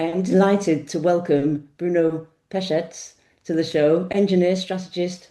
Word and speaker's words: Pesec: I am delighted to welcome Bruno Pesettz to the show.